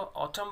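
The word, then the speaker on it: autumn: एम के बाद हमेशा एन साइलेंट होता है स्टूडेंट्स, इसको ऑटम बोलेंगे, एन का साउंड नहीं आएगा।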